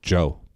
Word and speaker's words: Djo: It's I think it's just Joe, but the D is silent.